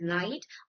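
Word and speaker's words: knight: K N I G H pronounced as night or P N E U M O N I A is pronounced as pneumonia.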